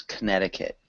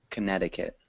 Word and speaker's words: Connecticut: The only two small things: Connecticut. Connecticut. It's difficult. Yeah. Connecticut. Yeah, one more time. Connecticut. Connecticut. Good. Yeah, it doesn't actually sound anything like it looks.